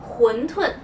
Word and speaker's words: 馄饨: La prononciation de wondun est en cantonais. En mandarin, on dit huntun.